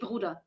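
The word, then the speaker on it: Bruder: he says BR and nobody speaking German pronounces the E which we just say bruda it's like an a yeah not e r and that just gives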